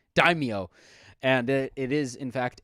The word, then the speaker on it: daimyo: written down right here daimyo daimio like dime and then yo daimyo and it is in